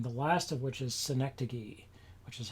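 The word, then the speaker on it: synecdoche: here um and the last of which is synecdogey which is how you pronounce that um which is a form it's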